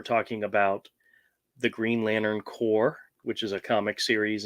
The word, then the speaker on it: Corps: about the green lantern core which is a comic series and from dc i would always screw up and say corpse which is not how you pronounce that word but they used to